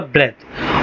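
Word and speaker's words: breathe: अगर ये नाउन होगा। जैसे यहां पे नाउन है तो मैंने क्या बोला? ब्रेथ। और अगर ये वर्ब होगा तो होगा ब्रीथ।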